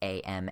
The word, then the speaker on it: em: a very strong preference for the Spivak pronouns am, air, or some people say it's pronounced ear, but I don't like that.